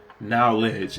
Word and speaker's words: knowledge: Knowledge as if the k is silent in the pronunciation of the word.